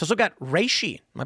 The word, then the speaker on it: reishi: It's also got reishi. Am I pronouncing that right?